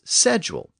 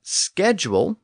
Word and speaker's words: schedule: pronounced at that time Walker came first and he said the word should be pronounced as sedule the traditional pronunciation but a later edition of his book said that schedule with the SK sound was an acceptable alternative